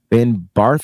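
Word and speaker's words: Ben Bartch: fle okay Ben bar Ben bar is that how you say his name yeah okay cool I'm going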